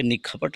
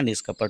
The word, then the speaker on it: निष्कपट: यहाँ पे निखपट नहीं पढ़ा जाएगा, निष्कपट।